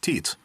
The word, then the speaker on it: Tiits: But then his last name is a typical Estonian name, Tiits, pronounced Teets.